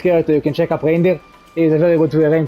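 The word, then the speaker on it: Raindyr: you can check up Reindeer. He's a very good Rain player. It's just pronounced like Rain's name and then Deer with Y.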